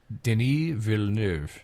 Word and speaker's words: Denis Villeneuve: Denis Villeneuve.